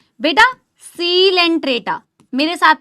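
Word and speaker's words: Coelenterata: यह कोलेंट्रेटा नहीं है। यह सीलेंट्रेटा है।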